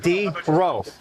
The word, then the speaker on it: Drow: I read that go, it's spelled like this. You got D, row, right? Mm-hmm. Row, as in row. Or you've got ow. Yeah. And I'm like, but I like Drow better.